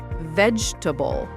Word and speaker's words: vegetable: Vegetable. Vegetable. Wait, that's four syllables. You're right. Good ear. Vegable. Four beats. But the stress is still on the first one.